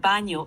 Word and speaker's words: baño: The word baño is pronounced baño with a soft ñ sound like in the English word canyon.